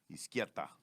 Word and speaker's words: Izquieta: And it sounds like the word left in Spanish, which is izquierda, but it's no R and a T instead of a D. So izquierda.